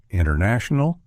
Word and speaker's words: international: winter, internet, and sentence, the T often gets dropped entirely in casual speech. So instead of fully articulating the T, we commonly pronounce it as sentence, winter, international, internet, with the T mostly omitted.